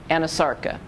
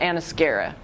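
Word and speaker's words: anasarca: you know I'm saying so Ana Sarka is full body edema Ana Sarka not Ana Skara and at electus as'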